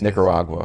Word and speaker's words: Nicaragua: I can never pronounce the Nicaragua. I can't get that out. It's Nicaragua.